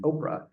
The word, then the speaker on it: Oprah: birth certificate is is orpa Winfrey but her family had a very difficult time saying the word orpa and they started pronouncing it Oprah so she just went with that so that's how you